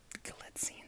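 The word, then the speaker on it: Galitzine: Now, a Prime Video original starring Nicholas Gletine, that's how you say it.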